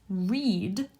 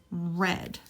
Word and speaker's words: read: but they're pronounced differently present tense is read long e past tense is read kind of like the color red I read an interesting